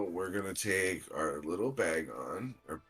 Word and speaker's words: Bagon: Now we're gonna take our little bag on. Or how did you pronounce it?